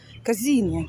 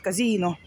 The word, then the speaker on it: казино: Казино, как они говорят. Кстати, по-эстонски. Эстонцы тоже говорят казино. На первый слог ударение. Не как у нас на последний казино.